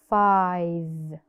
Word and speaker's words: five: out correctly four five five of course it has a magic e in the end we do not pronounce it but we write it